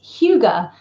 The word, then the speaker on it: hygge: so it's spelled h-y-w-g-e and um it is pronounced Huga I know this because I've spent the entire